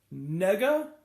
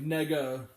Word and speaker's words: Negga: I think it's pronounced like a negative, like nega, like the nega, like Scott Pilgrim, Nega Scott. I think that's supposed to be how it's pronounced. Ruth Negga.